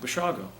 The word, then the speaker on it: Basiago: b-a-s-i-a-g-o he said well that sounds like basiago's you pronounce it what is it and I said bashago and he said Italian